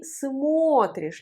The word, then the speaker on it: смотришь: Alors que dans la forme tu, on prononce ты смотришь, l'accent sur le O. Et O redevient O à la prononciation.